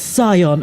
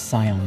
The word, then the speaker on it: scion: The C is silent, English is funny. Yeah, okay, I think it's Scion though.